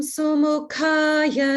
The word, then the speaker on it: Sumukhaya: Om Sumukhaya Namaha. Om Sumukhaya Namaha. Om Sumukhaya Namaha. Good. And here ka is Maha prana, ka.